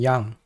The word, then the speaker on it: yang: you about Y and yang the first thing you notice is that I pronounce it as Yang not Yan a lot of the time I see people pronounce it as ying and Yan it doesn't really make sense